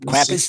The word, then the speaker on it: Krampus: Yeah, cramp Krampus.